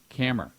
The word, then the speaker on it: Camera: program is camera camera yes rhymes with hammer right and so so